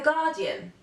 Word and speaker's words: Guardian: attention to this one the letter U is not pronounced after the letter G and before a vowel a very famous example could be the newspaper The Guardian or the movie guardians of the galaxy a guest or um